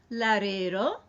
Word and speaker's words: Larero: So the first time it's Larín, Larero. If you can roll the R's, that's great. And if you can't roll the R's, that's fine too.